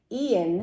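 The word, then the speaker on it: Eoin: yeah and I think Ian no mackan any of my Irish friends out there how do you pronounce e o i n I'm thinking Ian but you can feel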